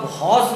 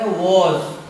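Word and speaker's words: vows: अब इसको आप भॉस नहीं पढ़ के क्या पढ़ेंगे? वॉज।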